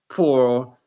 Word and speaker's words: pour: Same with poor. Pour pour some water in my glass.